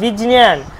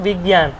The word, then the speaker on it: বিজ্ঞান: ঠিক তেমনই বিজনিয়ান, আসল উচ্চারণটা বীজ ইয়, বীজ ইয়টা রয়েছে, ওই জন্য বীজ নিয়ান উচ্চারণটা হওয়ার কথা, কিন্তু আমরা উচ্চারণ করছি বিজ্ঞান।